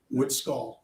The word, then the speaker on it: Witskey: Witskey, my name's it's Witskey. Witskey, exactly the way it's spelled, sir.